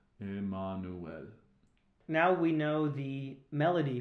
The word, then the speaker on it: Emmanuel: When we sing, O come, Emmanuel, the Latin pronunciation is a little different. Emmanuel, Emmanuel.